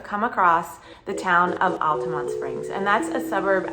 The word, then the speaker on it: Altamonte: that is the pronunciation it is locally pronounced Altamont instead of Altamonte uh I don't know